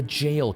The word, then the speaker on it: Gaol: I was so ready to say it's the Gaol Cave. The Jail Cave.